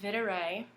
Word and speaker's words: Videre: com shop / for dear vintage it's actually pronounced Vitter a it is a lot in for video which